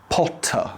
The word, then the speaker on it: Potter: British English is usually non-rhotic, so when words end in ER, we usually don't pronounce the R. So instead of Potter, it becomes Potter, Pot-tah.